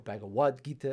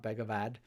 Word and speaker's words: Bhagavad Gita: from the Bhagavad Gita or bhagawad gita if you pronounce it properly in sanskrit in so far as i can pronounce sanskrit properly but it's supposed to be something more like bhagawad gita not bag of odd i sometimes start with